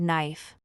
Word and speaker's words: knife: practice yes the word knife here too the K is silent and we say naive